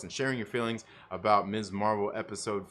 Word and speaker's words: Ms. Marvel: I hope they say her name properly, Ms. Marvel, and not Miss Marvel.